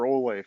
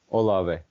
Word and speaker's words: Olave: say his name chris is it olave or olay from ohio state olave olave thank you uh silky smooth route